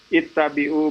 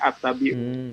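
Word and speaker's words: اتَّبِعُوا: Kayak misalnya kalau di Yasin kan ada ittabi'u ma la yas'alukum. Nah, kadang-kadang saya masih dengar orang bacanya attabi'u. Iya, keliru, ya.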